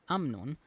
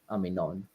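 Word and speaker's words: אמינון: The old effective spelling Amnon led to the traditional mispronunciation Amnon. Oh, okay. So he explains it as actually this is evidence of like the text getting corrupted, and actually the guy's name in the story has always been Aminon, but they lost the yud and then they started pronouncing it wrong, and this is the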